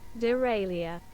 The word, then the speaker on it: derailleur: How to pronounce it? It's Derailleur.